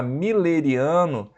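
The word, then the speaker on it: mülleriano: existe o mimetismo tá muleiro que se escreve né mas a gente fala milleri ok do Miller tá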